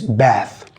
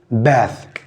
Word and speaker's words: bath: this word yes it's bath bath remember the last sound should be f f it's bath it is noun for